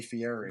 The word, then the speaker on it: Fieri: I know his name is Matthew gets it. Fieri, but if I said Goy Fieri, nobody would get it because everyone mispronounces his name, but it's Fieri.